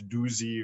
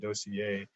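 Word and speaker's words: Doussié: lot of jim's books people don't know how to pronounce it it's often you look at it and think it's doozy or doci or something like that but he pronounced it dossier and it's so i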